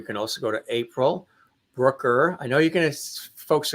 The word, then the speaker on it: Brucker: to them I said you know and I and I had to phonetically do it and so finally I said Brooker rhymes with hooker they're like oh and